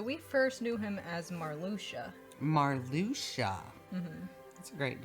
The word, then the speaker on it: Marluxia: hearts where you're like oh it's marluxa no actually it's marluxia and now i have